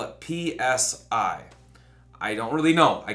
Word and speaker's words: psi: a silent P, because we don't pronounce the Greek letter psi with the P, even though it's there.